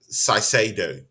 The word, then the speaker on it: Caicedo: See, before we go into this Caicedo issue, I think the pronunciation is Caicedo, if I'm correct. I don't know, but I think in Ecuador they have their own intonations, when they put the spin on that name.